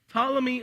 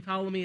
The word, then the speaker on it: Ptolemy: And in the south, you have the Ptolemy the First. It starts with a P, but the P is silent, like pterodactyl, just so we know.